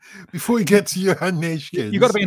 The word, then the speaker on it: Neeskens: How do you say it? Go on. Neeskens. Johan Neeskens. Neeskens. It's easy, Tim.